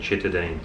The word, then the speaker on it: Citadines: A lot of you have asked us what it's called, and it's actually called Chittadine. Chittadine? It's spelled Citadines with a C, but the locals have been saying Chittadines.